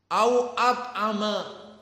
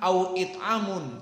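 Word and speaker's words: أَوْ أَطْعَمَ: Apa dibacanya? Au at'ama. Bukan au it'amun, tapi au at'ama.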